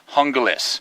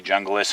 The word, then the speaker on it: Junglas: specs on this Essie hungus that's how you pronounce it I know it has a j you can say junglist hungus however you want